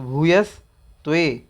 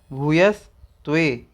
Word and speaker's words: भूयस्त्वे: यहाँ पे एक शब्द है भूयस्त्वे, तो भूयस्त्वे भूयस्त्वे इस तरह से इसका उच्चारण करिएगा।